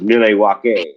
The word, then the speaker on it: Milwaukee: It's actually pronounced Milwaukee, and it means I forget,